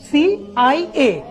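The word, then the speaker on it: CIA: United Nations, BBC, সিএনএন, সিআইএ, আইএমএফ। সবাই খেয়াল করি, আমি এই অর্গানাইজেশনের নামগুলো যখন বলছি তখন কিন্তু আমি ইউএন আন বলছি না, বলছি ইউএন। সিআইএ কে কি আমি সিয়া বলছি না, বলছি কি সিআইএ।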